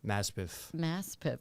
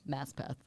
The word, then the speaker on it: Maspeth: so uh Queens mess Maspeth so the signs I read out the like window on the train are correct it is it's pronounced how it's spelled Mass path yeah I feel like